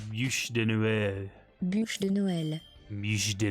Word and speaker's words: bûche de Noël: Bûche de Noël. Okay, that's Bûche de Noël. So that's how you say bûche de Noël.